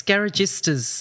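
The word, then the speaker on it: garagisti: Yeah, and it's interesting because even Enzo Ferrari called these British teams, now you might pronounce this better than me, Rosa, the Garagistas? Yes, Garagistas, that's right.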